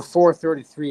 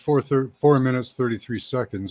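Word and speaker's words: 4′33″: and the foundation another 433 about John oh the 433 yeah pronounced four minutes 33 seconds or just 4 33.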